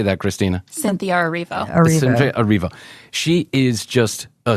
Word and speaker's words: Cynthia Erivo: Cynthia Erivo.